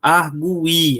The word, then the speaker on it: argui: Cuidado para não pronunciar isso aqui errado. Argui. Aí você vai dizer que precisava ter assento. É argui. Beleza?